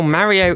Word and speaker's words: Mario: But more than that, when I listen to how Mario in the games says his name, it sounds like “Marry-oh” - the way I say it.